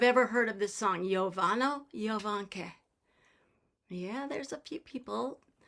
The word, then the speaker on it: Jovano Jovanke: The J's are always pronounced like a Y.